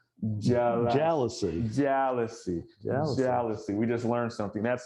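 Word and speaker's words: jalousie: in the front, and it is pronounced, it's not jealousy, it is jealousy.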